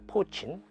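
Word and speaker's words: poitín: 포친.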